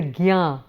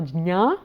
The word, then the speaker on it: jñā: it pronounced as the gyā, but because the jñā is a combination of j and ñ, I would tend to prefer the pronunciation of jñā.